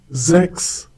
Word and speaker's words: sechs: We have already learned that whenever the letter S occurs at the beginning of a German word and is followed by a vowel, it is pronounced as if it were the English Z.